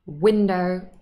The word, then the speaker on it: window: Most common nouns and adjectives that have two syllables in English are stressed on the first. Window, city, happy. We do not say window, city, happy. No. Sounds like I have a French accent.